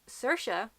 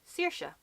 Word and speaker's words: Saoirse: the ones in Dublin so Saoirse which is the way that she personally pronounces can be Saoirse so there's that or there is Sarah huh no idea where